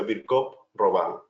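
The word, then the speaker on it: Virchow-Robin: y roban o virch Robin se escribe No pero se pronuncia virc roban que son espacios que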